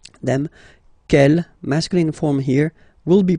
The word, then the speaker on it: quel: Okay, quel here, feminine singular, will become quel with the S, feminine plural. And the good news is that you will pronounce them the same way. Alright, so quel, quel, quel, and quel.